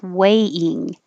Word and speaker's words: weighing: When you say a, your tongue should rise and finish in the E position. Weigh. And when you say ing, ing, you're starting in the E position. So you push it up there and then just make a little break. Weighing, weighing, weighing. Don't move your tongue position. Keep it in the E.